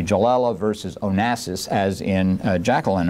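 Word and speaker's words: Galella: Joella uh g-a-l-e-l-l-a uh it's an Italian name so I assume it's a soft G jallella versus Onassis as in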